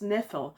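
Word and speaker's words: Ynefel: There's also the tower from which Twiston came which is spelled Y ne F E L. And I didn't actually say that in my head until much later on in the book. But if you if the Y is silent that's Nephil.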